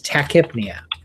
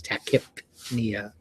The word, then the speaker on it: tachypnea: to mess you up, but it's tachypnea. The P is usually silent in a word with that root to it, but since it's in the middle and it's after a Y, it's tachypnea.